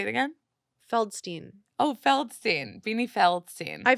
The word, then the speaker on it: Feldstein: her beanie fiddlin fidd fiddlin whates the card I say it wrong beanie fiddlin insane it's beanie feldstein oh my God Amy